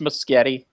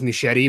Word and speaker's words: Muschietti: his own nameless getti it sounds like a Family Circus cartoon where it's like the kids trying to pronounce spaghetti it sounds like a